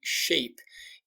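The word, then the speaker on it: SCHAPE: the acronym shape and shape is spelt a little differently at PG see when when he invented it he intentionally invented it with a C so it's s CH a PE shape and he talked about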